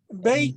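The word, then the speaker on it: בֵּית: which means a house bait means house of by changing the vowel sound you change the somewhat of the meaning of the word the essential meaning of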